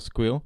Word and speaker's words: SQL: I pronounce it mimok like I pronounce SQL squeal because I'm cool and interesting.